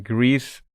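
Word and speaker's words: Gris: First game, Greece. It's spelled G R I S.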